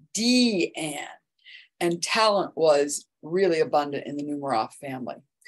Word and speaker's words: Diane: Her mother, Gertrude, chose her daughter's name, but she pronounced it D-Anne, and talent was really abundant in the Nemiroff family.